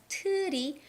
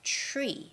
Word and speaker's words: tree: the christmas tree right when we say christmas tree it's not christmas tutti but it's christmas tree because there is the t and the r stick together so it's christmas tree